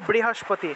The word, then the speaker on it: বৃহস্পতি: ঠিক আছে এইভাবে অর্থাৎ এখানে রিকার আছে রিকার আছে মানে এটা বর্গীয় বটা নিশ্চিত এটা বর্গীয় ব এটাকে আমরা সাধারণ বয়ের মতই উচ্চারণ করব আর অন্তস্থ ব আর